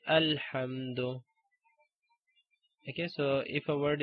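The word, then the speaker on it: الحمد: So the next letter after hamzatul wasl is lam. That's why we say alhamdu.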